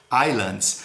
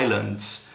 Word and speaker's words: islands: clouds são as fumaças islands é uma palavrinha que você não pronuncia o s dela Island ela tá com s de plural islands Então são as Ilhas